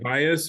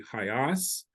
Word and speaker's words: HIAS: pronounce our name um people who say highest are generally people uh of of of my generation uh the people that we helped during the 1940s and 50s always say hios and the Russian speakers we helped during the 80s and 90s say hios So based on how